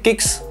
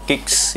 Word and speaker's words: Kickz: Kemudian di sini ada logonya Kicks ya, KICKZ, Kicks mungkin bacanya gitu.